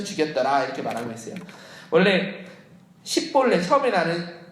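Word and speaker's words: 십볼렛: 이렇게 뭐냐면 6절에 보니까 12장 6절에 그에게 이르기를 십불레라고 발음하여 에브라임 사람이 그렇게 바로 말하지 못하고 십불레라 발음하면 길르앗 사람이 곧 그를 잡아서 요단강 나루터에서 죽였더라 이렇게 말하고 있어요. 원래 십볼레 처음에 나는 그 십볼레는요, 그러니까 십볼레 우이에 십볼레는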